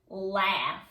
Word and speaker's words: laugh: When GH ends a word, it sometimes has the sound of F.